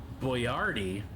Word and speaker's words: Boyardee: He was trying to make it phonetical so that his name wouldn't be mispronounced. But little did he realize that Boyardee, spelled the way he spelled it, would get pronounced as Boyardee. So, in spelling his name phonetically, his name is now pronounced wrong forever.